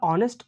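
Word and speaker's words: honest: एन का उसे करेंगे अगला ऑनेस्ट ऑनेस्ट साइलेंट होता है यहां और से पढ़ा जा रहा है इसीलिए इसके पहले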